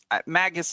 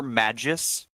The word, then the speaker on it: Magus: your name sorry um Magus is good I I prefer Magis uh but I think both are both are appropriate pronunciation no no we will